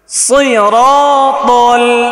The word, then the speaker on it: صراط: ধরেন সিরাতাল সই নাকি সি? সদ নাকি সিন? সই।